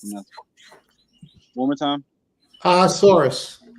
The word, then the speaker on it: Ahasuerus: I can't pronounce it. One more time. Ahasuerus. Ahasuerus.